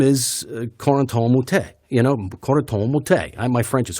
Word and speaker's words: Corentin Moutet: You're saying it wrong. It's Corentin Moutet.